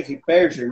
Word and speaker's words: Ripperger: O autor desse livro, Pilares da Santa Igreja, o nome do padre se pronuncia Padre Shed Ripperger, né?